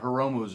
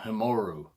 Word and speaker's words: Hiromu: I screwed up Hiromu's name in a review and kept calling him Himoru.